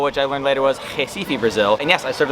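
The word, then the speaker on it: Recife: santiago dominican republic you nailed it i was rakaife brazil which i learned later was jessifee brazil and yes i served there for two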